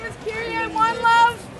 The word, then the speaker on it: Kyrie: you my name is kir one love spelled like the basketball player Kyrie k y r i e one love and I'm